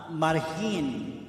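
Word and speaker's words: Margen: And sa pinsan kong pogi na nasa Marhin, right? It's spelled as M-A-R-G-E-N. So, it pronounces Marhin.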